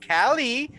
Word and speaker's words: Kall-E: It is Callie and Yost. Anyway. Callie like the player, Yost like the most.